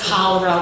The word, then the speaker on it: cholera: She pronounced cholera with a ch, and when we heard that noise, our minds felt vindicated.